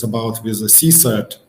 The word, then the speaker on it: CSIRT: So it's about with a CSIRT or SOC, that's how it's pronounced. For me, the first several months when I start using this word CSIRT, it sounded very strange to pronounce. I suggest everybody you to try to say CSIRT.